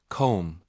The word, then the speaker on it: comb: B is often silent after the end of a word like comb or thumb.